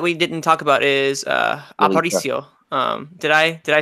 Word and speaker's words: Aparicio: No, I mean, the only person that we didn't talk about is Aparicio.